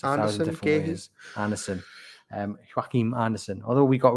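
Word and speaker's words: Joachim Andersen: Well, we haven't spoken about the centre back at Crystal Palace, whose name can get pronounced 1,000 different ways. Anderson. Joachim Anderson.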